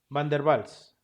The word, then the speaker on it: van der Waals: llamado van d valls pronuncie para que es que conozcan un poquito de alemán bien van der waals fácil y sencillo no